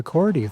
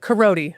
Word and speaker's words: Korody: and Support Administration Department with our friend Korody. Thank you for being here. Hello. Did I say it correctly, first of all? Unfortunately not. Is it Korody. not pronounced? Yeah. really. But Korody.